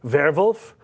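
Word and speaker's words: Werwulf: But he's got a werewolf movie coming out called Vervolf. And uh that's the pronunciation.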